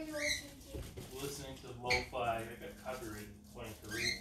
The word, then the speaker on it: lo-fi: I really like lofty. Lo-fi. It's lo-fi. I call it lofty. Okay, whatever. Because I forget that it's pronounced lo-fi.